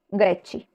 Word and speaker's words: grechi: dice chis sono excepcion hay excepciones p per sempio Greco grechi la parola Greco significa griego y el plural es grechi sin la H Pero